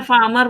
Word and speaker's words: farmer: FARMER, फार्मर, लेकिन बोलते समय फार्मर बोलते हैं, FAMER। तो ये यहाँ पे आर वहां पे साइलेंट है, ऐसे आपको याद रखना पड़ेगा।